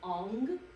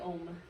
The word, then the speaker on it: Om: Now, when you're talking about Om, you can say Om with an M. It's kind of like the English pronunciation of it.